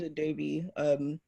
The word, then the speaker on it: Adobe: So my name's Adobe, pronounced like the software, not spelled like it.